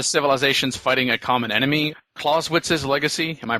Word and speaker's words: Clausewitz: Clausewitz's legacy. Am I pronouncing that properly? Clausewitz?